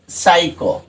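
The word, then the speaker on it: psycho: এখন আমি যখন উচ্চারণ করলাম তখন দেখো সাইকো, এখানে কিন্তু পিটা উচ্চারিত হলো না।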